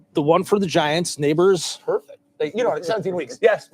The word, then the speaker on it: Nabers: The one for the Giants, Neighbors. Perfect. 17 weeks. Yes, Malik Neighbors, whose name is not spelled the way you would think.